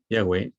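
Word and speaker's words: Yahvé: olviden quiero recordarles que mi versión dice ya voy aquí ya güey Que tal vez sea una de las pronunciación más correcta pero haya traducciones usuales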